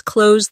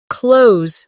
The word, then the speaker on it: close: As an adjective, close means near, like, "The store is close to my house." The two meanings sound different. The verb rhymes with rose, while the adjective rhymes with dose.